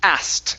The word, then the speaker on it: asked: she asked him okay now that word is going to be pronounced ast instead of asking it's asked she asked she asked